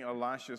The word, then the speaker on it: Elisha: to pronounce the word Elisha. I just do it. Probably the closest and most correct pronunciation is Elisha, meaning the El part of his name, meaning God, and then Elisha.